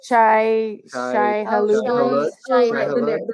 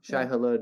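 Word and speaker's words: Shai-Hulud: Shai Halud. Their name. His name. Shai Halud is the worm.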